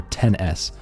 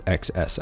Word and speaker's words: iPhone XS: their own freaking phone the iPhone XS or 10s um but everyone's going to pronounce it as XS I mean come on